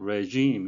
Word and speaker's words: regime: regime, 발음에 유의하셔야 되는데요. 앞에 이 발음은, re 해가지고, 뭐 꼭 이중모음이라기보다도 좀 장모음으로 regime 이렇게 하셔야 되겠습니다.